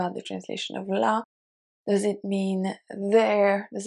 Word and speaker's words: là: It is different than the article la, the, and the pronoun la, her, even though they are pronounced the same way.